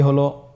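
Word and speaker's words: هاء: হ্যাঁ হা হরফটি উচ্চারণ ক্ষেত্রে অবশ্যই বারিক হবে এবং 1 আলিফ টেনে পড়তে হবে।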